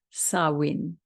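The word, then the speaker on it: Samhain: a i n which is a gelic word pronounced sawin it's a pagan religious celebration to welcome the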